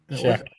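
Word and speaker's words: Shough: you say it's Shuck? Shuck. It's Shuck. fucking nuts.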